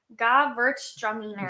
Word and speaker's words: Gewürztraminer: It's Gewürztraminer.